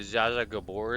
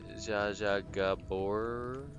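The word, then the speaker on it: Zsa Zsa Gabor: Was her name Zaza Gabbor or something like that. Zaja Gabbor. Oh, it's spelled differently. It's spelled Zs A Zsa.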